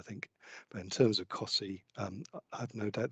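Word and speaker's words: Costessey: welcomed in terms of cossie sorry yeah in terms of there's it's inevitable it's going to happen it's the most the most unusually pronounced place locally i think but in terms of cossey um i have no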